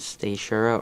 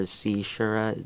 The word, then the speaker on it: caesura: My favorite word is Seishura or Seishura. There's 2 pronunciations.